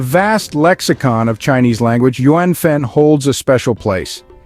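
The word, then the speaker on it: 缘分: function in Chinese Society our fourth word is yenen pronounced as Yen y second and fourth tone in the vast lexicon of Chinese language yuanfen holds a special place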